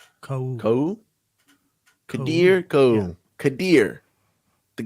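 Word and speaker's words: Kohou: Kadir Kohu? Kohu, I think the H is silent. Kohu?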